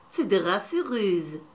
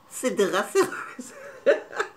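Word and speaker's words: Cédrat Céruse: Oh, Aussprache. Ah, Cedrat Ceruse. Cedrat Ceruse.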